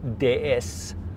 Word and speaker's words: DS: Men nej, det är ju hur man uttalar D och S på franska. Men när du kopplar ihop D och S så blir det ordet DS.